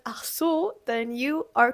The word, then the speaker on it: ach so: are variations is because they don't always pronounce the CH so hard. They don't always say Achso. A lot of times it's just Achso, like just Achso.